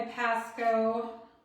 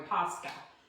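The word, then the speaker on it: Posca: I used my Pasco. Oh, sorry. Pusca. Said it wrong.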